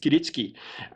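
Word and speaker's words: kiritsuke: it's k-i-r-i-t-s but it apparently is in japanese pronounced kiritsuki style of knife and that is a well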